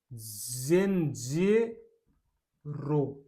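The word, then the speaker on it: zenzero: ई का, जेड जेन, जेन जे रो, जेड ई एन को बोलेंगे जेन, जेड ई का जे और एन का एन हो गया जेन, जेड ई को जे रो, जेन जेरो बेचारे अदरक को क्या नाम दिया है, जेन जेरो।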